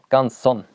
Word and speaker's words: Canson: Sorry, it's not Canon, it's Canson.